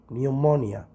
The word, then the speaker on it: pneumonia: Pneumonia ده مرض الرئة، البي لما تيجي مع الإن ما تنطق البي Pneumonia.